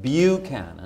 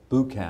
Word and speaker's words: Buchanan: of name that yeah you pronounce it Buchanan Buchanan yeah a lot of people say bouquet no you say that Buchanan okay exactly like your 15th president all right yeah that's